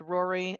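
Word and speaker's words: Rorai: the next one um is r-o-r-a-i three-year-old female pronounced Rory again that one is more sensical but why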